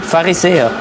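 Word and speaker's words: Pharisäer: Farisea.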